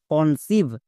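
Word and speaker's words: conceive: এন কন সি ই আই ভি ই সিভ কনসিভ তাহলে কোন ওয়ার্ডে যদি ই আই এরকম ভাওয়েল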